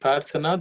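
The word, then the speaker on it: प्रार्थना: In the word prarthana, the second letter tha is aspirated.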